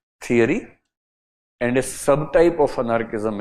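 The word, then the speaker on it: Thoreau: Person called H डी थरो और थुरो इनकी बस स्पेलिंग चेक करनी होगी। ऐसी कुछ लंबी सी स्पेलिंग है। एच डी थुरो बोलते हैं।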